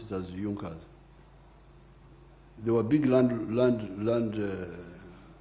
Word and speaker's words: Junker: It is written Junkers but they pronounce it as Junas.